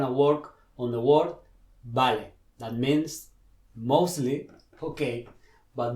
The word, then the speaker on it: vale: people tend to say vale or even veil okay remember that v the letter v in spanish is the same sound as b like in the barba